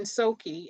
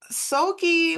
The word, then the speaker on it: Soki: Now you're working with Greek jazz musician Soki. I think, am I pronouncing his name Yeah, correctly? that's right. That's right. Soki.